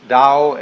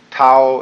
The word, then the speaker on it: Tao: a da ta AO pronounced Dao in the Mandarin dialect Tao in the changhai dialect